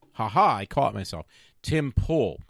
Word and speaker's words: Pool: for his YouTube but it's Tim peel pull I I said it wrong there so Matt haha I caught myself Tim pull it's not on there I just remembered it but Tim Poole was picking on my